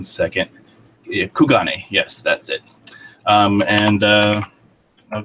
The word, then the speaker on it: Kugane: It is the one that's connected to Kirigane. What the? How do you pronounce that? 1 second. Kugane.